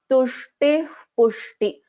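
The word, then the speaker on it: तुष्टिः पुष्टिः: We will chant this as tushtih pushti, tushtih pushti. So half visarga and then we will be pronouncing the pushti, tushtih pushti. This is the pronunciation for this. This is called as upadhmaniya.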